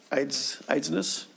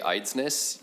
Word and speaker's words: Eidsness: And I'm sure I pronounced that wrong, but Mr. Eidsness, please state your name for the record and continue with your testimony. Thank you, Chair. My name is Eidsness. You nailed it.